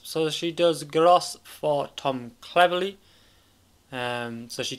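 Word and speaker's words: Groß: It's not Grobs, it's Gross. I managed to work out his name. That B is not a B.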